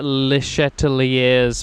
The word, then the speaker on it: Le Chatelier: So you know Le Chatelier's principle.